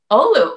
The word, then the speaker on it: Oulu: So you're from, is it Oulu? That's good. That's really Oulu. All right. I'm pretty proud of myself. All right. Can you tell me a little bit about what Oulu is like?